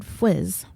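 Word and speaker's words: Fuisz: Richard Fwiz. And seriously, that's how it's pronounced.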